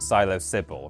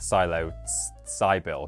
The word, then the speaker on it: PsiloSybil: that's the thing the the s in the middle is uppercase because it's Sybil which is also a name but then presumably it's pronounced Silo Sybil rather than the silos Cy bill because Cybil isn't a